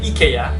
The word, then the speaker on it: IKEA: while others pronounce it as ikea the original pronunciation is actually ikea but the americans popularized yong long ai sound